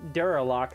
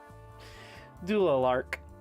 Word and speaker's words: Dualark: Like I said, I've been pronouncing Duralock the entire time, or Durlac. But it's Dualark.